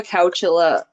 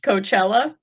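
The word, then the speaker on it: Chowchilla: Have you heard of the Cowchilla bus kidnapping? No. Okay. And it's not pronounced Coachella?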